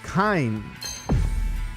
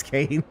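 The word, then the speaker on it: Kain: Oh, Kind. That's how you pronounce it. Oh, I thought it was Kane.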